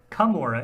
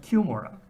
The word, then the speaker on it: Cumorah: It's even a little bit weirder than that in that it's not pronounced Cumorah, it's pronounced Cumorah.